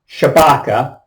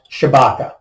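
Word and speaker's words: Tshibaka: I've heard it pronounced Chewbacca T s-h-i-b-a-k-a and I've heard it pronounced Chewbacca okay okay Kelly Shabaka uh Trump endorsed and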